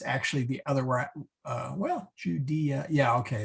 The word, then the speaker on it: Judea: it right in english it's judea you day yeah judea you day ah there we go bethlehem in judea est